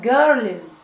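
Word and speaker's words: girls: طيب بعد كده جيرلز. جيرلز جيرلز يعني بنات. سمعناها زي عشان قبلها ال.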